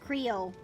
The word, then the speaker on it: Creole: and I'm gonna mispronounce this horribly, and the Creole holy trinity of celery, bell peppers, and onions. So yes, there you go. It is a stew. It's pronounced Creole.